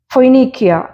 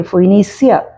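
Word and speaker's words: Phoenicia: മാസിഡോ എന്ന് ഇംഗ്ലീഷിൽ വായിക്കും ഫോയ്നീക്കിയ പി എച്ച് ഓ ഇ എൻ ഐ സി ഐ എ ഫോയിനീസിയ എന്ന് ഇംഗ്ലീഷിൽ വായിക്കുന്നുണ്ട് സെലൂക്കിയ എസ്ഇ എൽ യു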